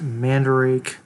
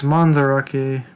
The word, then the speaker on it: Mandarake: into the whole collecting community it's called uh mandarake i used to pronounce it manderake like the white person i am so it's mandarake but i'm probably going to be pronouncing it